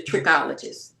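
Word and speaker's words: trichologist: So I think as a team effort the dermatologist the cosmetologist the tririccologist and did I pronounce that correctly?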